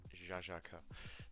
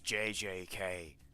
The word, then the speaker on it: JJK: Jajaka. That is not how you say it. It is JJK.